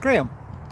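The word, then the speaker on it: Graeme: right this is GRE eme and it's pronounced Graham so pretty much like normal Graham except it's spelled different my sub stats you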